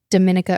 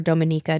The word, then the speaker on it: Dominica: John's which is a neighboring island and then Dominica or Dominica depending on how you say it and what you're you know if you're from the Caribbean or not Martineique Antigga and St.